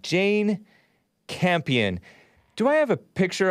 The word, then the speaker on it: Campion: This is the CNN headline, director Jane Campion, it's spelled like champion, but no H, Campion, I presume that's how you pronounce it, apologizes for thoughtless, her word, comment about Venus and Serena Williams.